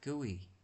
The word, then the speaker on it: GUI: graphical user interface or GUI pronounced guey guey All right.